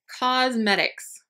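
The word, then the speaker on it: Cosmedix: Cosmetics, but it's spelled C-O-S-M-E-D-I-X.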